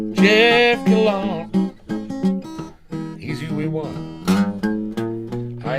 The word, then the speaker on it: Gallant: His name is French, and I pronounce it that way. Jeff Gallon.